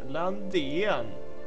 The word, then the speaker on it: Lundin: I was wondering how the F you pronounce Lundin and Tishkevitz. Yeah, that's pretty much how you pronounce them. Yeah, Lundin.